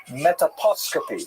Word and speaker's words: metaposcopy: talked about the Arizal's metaposcopy. I had to look up how to pronounce that. Apparently it doesn't rhyme with anything, but I looked up all kinds of rhyming anyways. Metaposcopy is the technical term for reading the face.